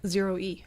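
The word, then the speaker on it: ZEROe: airbus zero zero concept aircraft how would you pronounce that zero e zero e ah okay very clever although you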